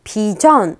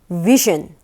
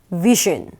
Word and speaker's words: vision: 발음을 과연 비전 이렇게 발음을 할까요? 아니죠. 자, 앞에 강세가 있어서 vision, 그리고 B가 아니라 V예요. 그래서 vision, 은근히 어려운 발음입니다. 다시 한번 vision.